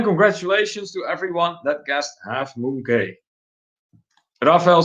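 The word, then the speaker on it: Half Moon Cay: But Moses says, Half Moon K, full-time retiree. I guess if you pronounce Half Moon Key, then yes, it rhymes with full-time retiree. Yeah.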